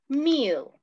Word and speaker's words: meal: The pronunciation is not male, it's meal. Meal, okay.